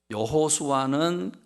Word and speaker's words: 여호수아: 있습니다 아 공교롭게도 묘하게도 여호수아는 구약적 인시 브리 발음이 고 2 5 수아를 신약 발음으로 헬라 발음으로 하면 예수가 됩니다 그러니까 여러분 무슨 말입니까